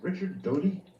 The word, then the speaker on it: Richard Dodie: I've got your name I'm pronouncing your name correctly is it Richard Dodie yes that is correct Richard uh it's not